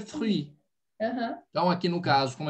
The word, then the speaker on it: fruit: Agora eu adiciono o i ali, que é mudo, né? Então, vai ficar o quê? Fruit, fruit, fruit, le fruit.